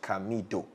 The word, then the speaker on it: Camidoh: The name is spelled as Camidoh. Camidoh.